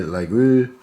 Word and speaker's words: Laguiole: The old pronunciation in Aquitaine was preserved. This is the reason why one says Laguiole. I think that was the other one. It was close to Laguiole, and you don't even pronounce the G.